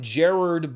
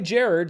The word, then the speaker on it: Gerard: his name last week some people say Gerard he says that it was originally Jared so that's what I'm gonna say here on the show streaming